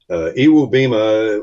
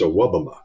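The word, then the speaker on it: Iwebema: Iwubima was the pronunciation when he first came to town. Then his mama called me one day and said, it's Awabama.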